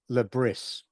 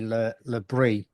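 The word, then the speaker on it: Le Bris: And it's like Regis Lebris. A lot of people call it Lebris, but it's actually Lebris.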